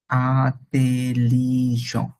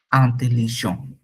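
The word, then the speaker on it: intelligent: হচ্ছে মাউস ইদুরি আর এটাকে আমরা ইন্টেলিজেন্ট ফ্রেঞ্চ উচ্চারণটা হয়ে যায় আ তে লি আতে লিজ টি লাস্টে টি ই দুইটাই উচ্চারণ হবে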